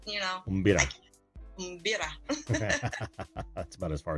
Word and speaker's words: mbira: And yes, primary hobby, of course, is my array, and it's pronounced Mbira. Yeah. If you can pull your tongue a little bit, Mbira.